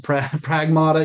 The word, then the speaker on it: Pragmata: Um, and it is pragmata, not pragmata. Pragmat pragmatada, you know, it's pragmata. That's how you say it.